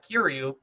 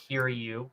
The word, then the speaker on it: Kiryu: But you'll always have Kiryu.